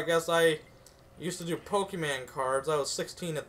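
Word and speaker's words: Pokémon: pronounce that right the pokem man and like the dude's like the man's like no it's Pokemon it's Pokemon so the economics teacher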